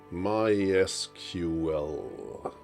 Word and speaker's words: MySQL: so let's see my secret is officially evinced my SQL ok doesn't roll off the tongue as easily to make an effort of pronouncing it correctly so it's my SQL X